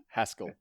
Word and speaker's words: Haskell: name yeah yeah and your last name is pronounced Haskell yeah yeah but you know I answer to